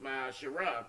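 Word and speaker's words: מעשר: 3 8 and 10 means 10th in the hebrew and it's pronounced my shara 10 percent of every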